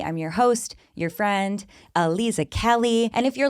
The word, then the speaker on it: Aliza: So even though somebody might read it one way, they would realize it was Aliza and not something else.